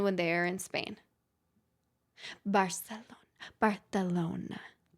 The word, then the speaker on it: Barcelona: Barcelona Barcelona Why do you say it like that? That's how people celona That's how you're supposed to say it. It's like Ibiza.